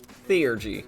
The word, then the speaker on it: Theurgy: Theurgy. Finally, I know how to pronounce that word.